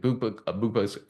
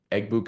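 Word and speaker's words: Egbuka: Bua, Eggbuka, excuse me, from Ohio State, if I can say his name correctly.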